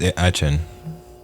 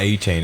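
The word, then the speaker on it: Achane: It's actually Devon Atchin or something like that. It's not A-Chain.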